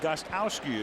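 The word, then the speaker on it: Gostkowski: weren't too tight ends stephen gostowski again the first k is silent that's a tough name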